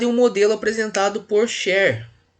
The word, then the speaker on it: Schär: um modelo apresentado por Scher. Esse é um nome alemão, então esse termo aqui ele pronuncia meio parecido com E. Quem que é esse Scher aqui?